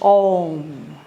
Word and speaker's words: Om: And in the Indian tradition, this is Om. And there's a teaching about the syllables, the 3 syllables of Om. The Ah and the Oo and the M.